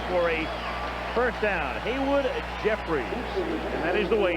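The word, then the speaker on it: Jeffires: man it's jeffries for a first down haywood jeffries and that is the way it's pronounced even though the eye and the r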